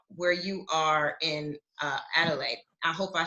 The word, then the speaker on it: Adelaide: beautiful things about where you are in uh adelaide i hope i said it right um yeah